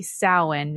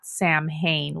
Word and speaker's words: Samhain: It's supposed to be Samhain, not Samhain, which is the way that I want to pronounce it.